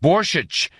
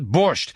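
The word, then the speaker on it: Borscht: to the borch today it's pronounced borich not borch how many times do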